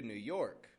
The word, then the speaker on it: New York: I'm going to New York, stressing the York.